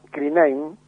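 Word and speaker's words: κρίνειν: Deriva de un verbo que en griego antiguo se pronunciaba krinein y cuyo significado es juzgar para tomar una decisión.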